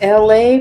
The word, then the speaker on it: Elay: So, ladies and gentlemen, boys and girls, this is LA, pronounced like LA like the city.